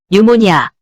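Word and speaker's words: pneumonia: 네모니아 뉴모니아 PN에 P가 무음이 되어 N으로만 발음해 주죠.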